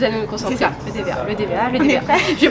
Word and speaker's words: Le Dévéhat: Le DVA.